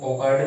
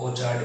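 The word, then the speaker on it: orchard: इसका जो प्रोनाउंसिएशन है वो ऑर्कार्ड भी है और ऑर्चार्ड भी है। ओके, दोनों प्रोनाउंसिएशन होते हैं जो अमेरिकन और ब्रिटिश इंग्लिश के अकॉर्डिंग हम स्टडी करते हैं।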